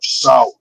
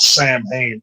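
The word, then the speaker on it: Samhain: Halloween is the corporatized version of sour, which if you look at it, it's spelled Sam Hayne.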